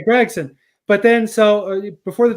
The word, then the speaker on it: Gragson: I remember for years you would say Noah Grayson and I always thought how has he not learned how to say his name because everyone else NBC Fox that would say Gregson but then so before